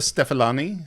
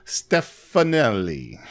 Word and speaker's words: Stefanelli: thunderbolt oh man apollonia this is uh simonetta stefalani stefano stefanelli okay i just talked about my pronunciation issues simonetta stefanelli that is her name yeah um and she